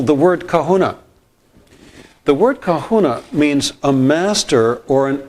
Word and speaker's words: kahuna: If you break the word down into three syllables, ca, who and na, ca means the or the one.